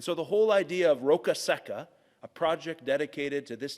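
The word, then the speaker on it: Roccasecca: called the dry rock it is a hard name sometimes to pronounce but you just have to maybe think think in that Italian accent rokaseka you know it's a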